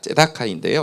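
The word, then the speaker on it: צדקה: 따라 있습니다 공의와 정의 우리 발음으로 새댁이라고 번역했지만 째다카인데요 그러니까 공의와 미시 파트 정의가 그의 보좌에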